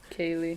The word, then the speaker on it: Keleigh: I think it's Kaylee, but it's spelled. It looks like a Utah name. It's Keleigh. Kaylee.